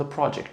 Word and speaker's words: project: बट इसका जो correct pronunciation है नाउन के केस में वो है फर्स्ट सिलेबल को स्ट्रेस करना। They working on द प्रोजेक्ट together.